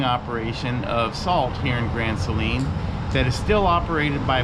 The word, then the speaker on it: Grand Saline: today we are in grand saline which texans pronounce it grand celine texas all right here